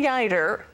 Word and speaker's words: Yeutter: authored the guider biography rhymes with fighter which was published earlier